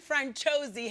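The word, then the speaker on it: Franciosi: This follows a young Irish convict played by Aling uh, Francoisi, I think is how you say her name. Franuisi. Please welcome Ashlin Franchosi.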